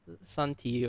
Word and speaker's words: Shanti: Santi or Shan- Shanti? Shanti. Shanti is fine.